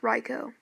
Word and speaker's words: Raikou: today we'll be talking about how to use raicho in competitive battling and yes it is pronounced Reiko I learned that the hard way he's my